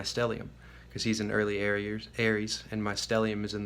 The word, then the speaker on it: Ares: So let me talk to Aries, and that's spelled without an I, A-R-E-S, the Greek god of war.